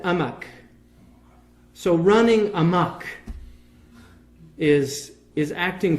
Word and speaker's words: amok: The Malays can't pronounce the H in Arabic. So they say for the stupid in Malay is, in Arabic it's ahmaq. The Malays said amak.